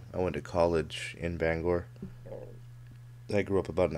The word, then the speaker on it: Bangor: it's not Banga it's not banger nobody calls it that unless you're like from Down East it's Bangor come on now don't